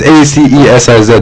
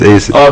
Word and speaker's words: Acesiz: Yeah, so like it's Acesiz. The reason why I spell it that way is so nobody else can infiltrate it.